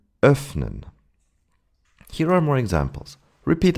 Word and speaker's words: öffnen: We pronounce the in this short way when it's followed by two consonants, and especially double consonants, as in öffnen.